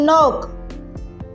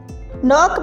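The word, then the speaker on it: knock: ई जी मिसाल के तौर पर एच इन ऑनेस्ट ऑनेस्ट में एच डब्ल्यू इन रैप रैप में डब्ल्यू के इन नोक नोक में के है वी पुट द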